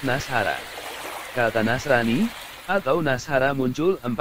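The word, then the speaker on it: نصارى: Kata Nasrani itu, dalam bahasa Arab juga dilafalkan sebagai Nasrani, untuk tunggalnya, sedangkan untuk jamaknya disebut Nasara.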